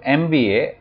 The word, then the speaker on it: MBA: as a farmer so MBA would take n as it is pronounced as a series of letters and M sounds like